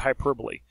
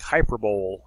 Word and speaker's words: hyperbole: All right, now let's look at hyperbole. You almost want to look at this like hyperbole, okay, but it's actually pronounced hyperbole.